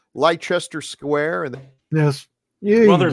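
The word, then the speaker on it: Leicester: you got to take the IC out and I I appreciate you correcting us but um and and you're not really being critical about it you're just saying hey guys this the way it's pronounced so we're not gonna so we don't want to look like a bunch of Rubes if we ever end up in England and we're asking people where's uh Lester square and yes well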